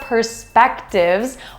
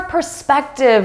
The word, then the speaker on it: perspective: Perspective. Pay attention to that stress.